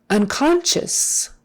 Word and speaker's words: unconscious: back there or or unconscious unconscious uncon on sh that s i is an sh kind of a thing o u becomes like a short u unconscious as if it